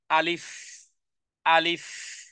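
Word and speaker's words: ألف: উচ্চারণের জায়গা এটা ভুল তাহলে বলতে হবে আলিফ আলিফ মুখের মধ্যখান থেকে যেই খালি জায়গা জায়গা থেকে উচ্চারণ হবে এবং এখানে কোন আলিফের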